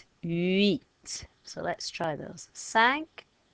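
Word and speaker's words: cinq: so let's try those sank seas set wheat from the beginning ah dude ha cat sank cease set meet did you remember not to say the silent letters so there they all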